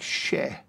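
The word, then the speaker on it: še: ear of barley now the word for barley in Sumerian is is pronounced like she so your suian sees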